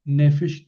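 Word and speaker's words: נֶפֶשׁ: Aquí toma porque eh Nefes tiene el acento en la primera verad.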